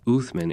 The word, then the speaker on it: Osman: From Osman's name, pronounced Uthman in Arabic, the empire would take its enduring title, the Ottoman Empire.